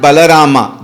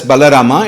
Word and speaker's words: Balarama: Please note, it is not Balarama, though in English they write Balarama. You can also pronounce it as Balarama, it is not so. It is Balarama, remember.